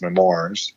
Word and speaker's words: memoir: We're going to talk right before we finish tonight's episode about C3PO's book that came out as memoirs.